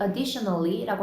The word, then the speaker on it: additionally: 우리 additionally라고 할 때는 에 아니고 additionally라고 발음해주고 그 다음에 a picnic